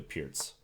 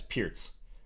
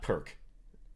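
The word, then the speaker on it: Pirc: should say uh-huh and he's gonna play the pierce okay note the pronunciation guys pierce that's the proper way to pronounce this opening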